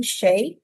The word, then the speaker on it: Shea: Her name is Kristen Sha. Did I pronounce that right?